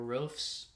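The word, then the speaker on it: Roefs: I did go with the Sunderland goalkeeper, Roofs. I think that's how you pronounce it. R O E Fs.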